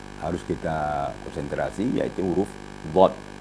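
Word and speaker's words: ض: kita konsentrasi yaitu huruf dhad dhad ini huruf yang terberat cara pengucapannya jadi cara mengucapkannya adalah a dipenuhkan mulut dengan suara dhad kemudian keluar suaranya pada pinggir lidah kanan atau kiri Yaya ya berkonsentrasi pada geraham kiri atau kanan ini sehingganya mengakibatkan pipi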